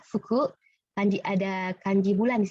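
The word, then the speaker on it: 服: Nah, ya dibacanya fuku.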